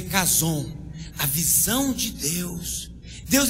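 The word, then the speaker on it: חזון: Do original se fala Kazon, se escreve Chazon, mas se lê Kazon.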